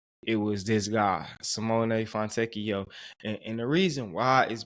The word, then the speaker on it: Fontecchio: Fontecchio.